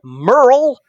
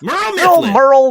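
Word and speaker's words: Murl: His name is Merle Mifflin. Merle Mifflin. Hey, Merle, if you're still around. And Merle is spelt M-U-R-L.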